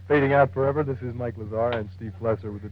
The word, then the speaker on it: Mike Lazar: always listen to the mike lizard show except that you said the name wrong if you like trying it again sir mike lazar oh that's what you